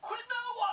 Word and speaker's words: quinoa: It's pronounced Quinoa. It is pronounced quinoa.